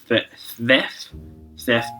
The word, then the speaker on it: Szeth: There is another character called Szeth. Basically, it's really hard to pronounce.